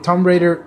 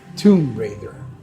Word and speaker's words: Tomb Raider: you know that the the game Tom Raider 2013 that is uh Tomb Raider for the proper pronunciation uh it's a pretty